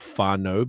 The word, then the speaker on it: whānau: Some of the native, like the Maori words, are like there's a word for families called whānau, but it's WHA like NAU.